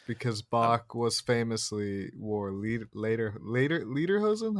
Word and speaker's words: Lederhosen: Bach was famously wore lederhosen. How do you pronounce it? Lederhosen, I would say, is pretty close. Yeah, It's the closed E, the A sound.